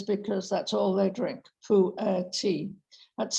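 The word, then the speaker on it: pu'erh: Certain kinds of tea, as this is today, pu'er in particular, is believed to help keep you slim.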